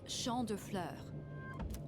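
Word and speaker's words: Champs de Fleurs: Champs de floors? How do you say that? Let's leave it to Mitsuru. I'm not even gonna attempt it. It's Champ de Fleurs.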